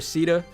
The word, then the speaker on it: Sita: I think Sheeta is a fine name for her too, but like, what is Sita? Like, how do you get that out of the way her name is spelt? That just doesn't sound right. So I refuse to call her Sita, even though that's technically correct.